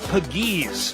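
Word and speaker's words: Pegues: have been outstanding offensively JJ Pages that's how it's pronounced pages from Oxford Mississippi two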